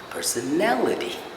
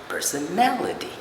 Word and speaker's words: personality: We should know that we stress not the second last syllable, however, it's the third last syllable that needs to be stressed. Therefore, we say personality. It's not a personality or personality, it's personality.